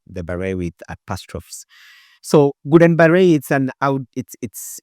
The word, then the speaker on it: Guillain-Barré: A little bit difficult to pronounce. It's French. When you write it with some small, the barré with apostrophes. So Guillain-Barré, it's a neurological disease.